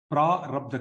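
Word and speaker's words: प्रारब्ध: Prarabdha karma, there is one long vowel there.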